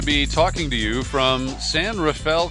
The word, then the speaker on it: San Rafael: talking to you from San Rafael California often mispronounced San rafeal and it was in